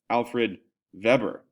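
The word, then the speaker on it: Alfred Weber: Now, in Germany, the W is pronounced V and therefore the V is that pronounced W?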